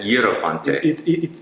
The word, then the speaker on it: IEROFANTE: IEROFANTE. It's right in the Italian way, so it's IEROFANTE.